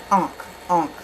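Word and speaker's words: ankh: And if that was real, that would be another death hoax clue to the ink. Unk. It's spelled A-N-K-H, but it's spelled Unk, you know.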